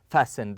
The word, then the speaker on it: fasten: seat belt okay we fasten the T here is silent we fasten the seat belt and